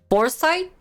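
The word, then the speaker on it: Forsythe: foresight that's how you pronounce it for scythe in the beginning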